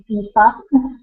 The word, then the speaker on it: Aoife: Because it's like Eva, but with a softer V, Aoife.